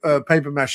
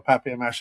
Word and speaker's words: papier-mâché: looks like, paper mache or papier mache, however you want to pronounce it.